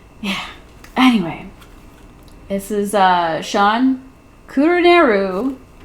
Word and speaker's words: Kuruneru: This is Shawn Kuruneru, saying it right this time, his latest book, Fool's Wish.